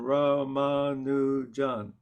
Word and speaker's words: Ramanujan: because in India, there aren't emphases on syllables. So in other words, it's even Ramanujan. So we in the West, when we say a name like that, it's you know inevitable we emphasize a syllable. Right. So I probably am not, when I say Ramanujan, I'm still sort of emphasizing the second syllable a bit, not the way it should be, but Yeah.